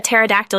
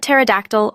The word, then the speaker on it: pterodactyl: can't you hear a pterodactyl using the bathroom the answer because the p is silent it's a classic that